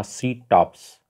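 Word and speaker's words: CTOPS: दोस्तों, इस tracking apps का नाम था सी टॉप्स, स्पेलिंग बोल देता हूँ, CTOPP और S।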